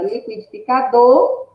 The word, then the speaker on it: liquidificador: Qual é a sílaba mais forte? Aqui já tem, já identificando que é do. Como é, Pró, que eu descubro isso? Eu falando a palavra liquidificador, eu sinto.